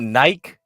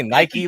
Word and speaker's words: Nike: all wait wait wait you pronounce it Nike you don't you don't say Nike like I say I say it both ways just depends on the